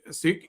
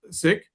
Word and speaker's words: Sikh: For those wondering, the correct pronunciation of the word Sikh is with a short I and an aspirated K, just the way you were describing it.